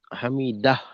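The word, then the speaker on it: حمده: আল্লাহু লিমান হামিদা হামিদাহ হামিদা সময় নেওয়া যাবে না সামিল আল্লাহু লিমানা হামিদা এখানে একটু স্বাভাবিকভাবে হামিদাহে হা আছে গুলহা তো হা এর আওয়াজটাকে করতে হবে যথাযথভাবে আল্লাহু লিমান হামিদা জ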